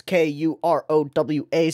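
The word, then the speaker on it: Croix: a character named Kurowa, which I've gone and looked at the actual like romanization of the characters, and it's Kurowa, so I will pronounce it properly from here on out.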